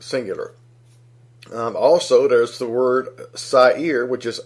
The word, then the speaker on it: Sair: Also, there's the word Sair, which is S-A-I-R, pronounced Sair.